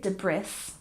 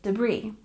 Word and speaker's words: debris: with a silent s we don't say debris we say debris and we stress the second syllable debris debris very good